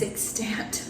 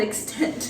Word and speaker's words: extant: And it is extant, not extent. Yeah, that's the correct way to say it.